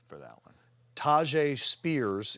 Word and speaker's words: Tyjae Spears: Tyjae Spears is the correct way to pronounce it.